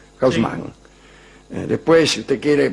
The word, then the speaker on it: Haussmann: En 1853, el día en que Haussmann prestó juramento, como digo, la pronunciación que se usa en París, Haussmann.